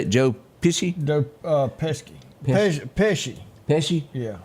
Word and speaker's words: Pesci: How you say it, Joe Pesci? Joe Pesci. Pesci. Pesci? Yeah. And I said, golly. I called him Pissy?